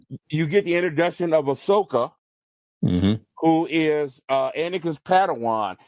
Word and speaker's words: Ahsoka: It is Ahsoka. Okay, I wasn't pronouncing her name right, and she'll be played by.